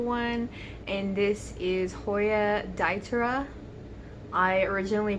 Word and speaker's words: diptera: and this is hoya daitera i originally pronounced it diptera because i did not know the p was silent but you guys know